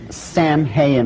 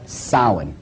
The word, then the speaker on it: Samhain: the name it looks as if it's saying Samhain or something like that no no no no this is properly pronounced and the ancient Gaelic as sowon sowon according to a cult tradition was the